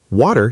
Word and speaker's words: water: The t in the middle often sounds more like a soft d. Water sounds like waiter.